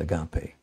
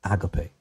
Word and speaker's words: agape: And now this is the word agape in the Greek, a word I'm sure that you're familiar with, although many of us pronounce it agape.